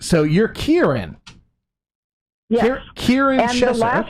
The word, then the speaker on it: Kieran: my name which is Kieran oh okay so you're cute Erin chest sure sure okay yes the first syllable rhymes with beer cheer okay Kieran Sheppard okay